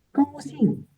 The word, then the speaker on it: 高兴: Nomor 10, 高兴. 高兴. 高兴 is happy. 高兴. 高兴 is happy. Senang. 我很高兴. Jadi 高兴 kalau bacanya harus tinggi. 高兴. Tidak boleh 高兴.